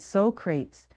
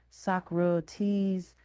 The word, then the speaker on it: Socrates: I had read Socrates, but I had never pronounced his name, so I said Socrates, because that's the way I had always assumed it was pronounced. There was a moment's silence before I heard someone whisper, Socrates.